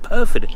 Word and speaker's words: Pyrford: back down to P PR perod it's called perod I was calling it pford it's perod pronounced perfed um so I'm heading down to